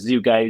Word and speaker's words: Zugaj: play on on Michael's last name which is zoo guy zu g ai. Um, but the uh website here is is spelled Zoo Guy Renovations LLC.